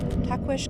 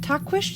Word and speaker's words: Tahquitz: Tahquitz Canyon. Here we go. I think that's how you say it, with the SH.